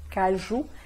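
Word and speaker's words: cajou: Não se esqueça que o U sozinho é o famoso bico francês, então para ser o som de U, como no português, tem que ter o O mais U.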